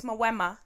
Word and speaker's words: Mawema: It's Mawema. That's crazy. Mawema is how it's actually.